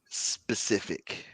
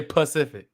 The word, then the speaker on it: specific: it's a black person how do you say specific specific because black people say pacific pacific yeah you gotta be